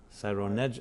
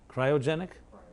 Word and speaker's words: cryogenic: with them to a Cyro how do you pronounce the cyanogenic freezing cyrone ah cryogenic really cryogenic I like to cry sounds interesting